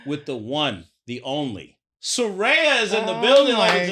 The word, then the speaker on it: Saraya: Because it sort of sounds like a black woman's name. Oh, And we got all sorts of pronunciations of things, and it's like... So I knew instantly that it was Saraya.